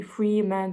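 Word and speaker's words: Fremen: e men so of course it wouldn't be free man but Fran but I don't know in my head I pronounce it Freeman all the time and now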